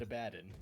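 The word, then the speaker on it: Abaddon: aidon is way again aidon is the way I say it but I know it's also said a badden I've never heard it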